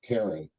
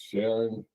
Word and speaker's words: Charon: uh from history um so it it technically it's pronounced Karen but yes this this is Valentine's Day so yes for the next three and a half hours can we not agree that it's Sharon I will do my